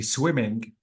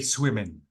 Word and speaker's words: swimming: swimming, some students say swimming. I'm going swimming this evening. To be honest, you don't have to delete or omit the G. You have to pronounce the word clearly and completely.